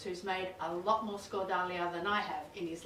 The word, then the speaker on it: skordalia: i'm going to show you how to make scordalian did i pronounce that correctly yes perfect with my friend yani kiritsis who's made a lot more score dalia than i have in his lifetime absolutely i